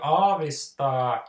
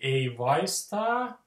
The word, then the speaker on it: aavistaa: the way to, like, the way that you can fail saying a word like aavistaa is one, if you mispronounce the vowel sounds. So instead of saying aavistaa, you say ei vaistaa, or something like that, which Finnish people will think that sounds incomprehensible.